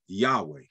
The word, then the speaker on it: Yahweh: And actually, the word is pronounced Yahweh, Yod, Hey, Vav, Hey.